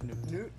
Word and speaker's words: Knuth: Is it Knuth? Knuth? Knuth. H is silent. The H is silent.